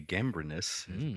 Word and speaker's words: Gambrinus: We are drinking Cantillon Rosé de Gambrinus. That's how you pronounce that.